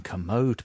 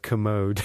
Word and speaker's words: Kermode: Now, I was listening to the Mayo and Kermode podcast.